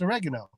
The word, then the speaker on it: oregano: is still not pronounced correctly because the A would be the second to last vowel.